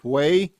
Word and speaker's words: Whey: His name is Hay Jennings and that's spelled whey and he has a great new country album out and it is phenomenal.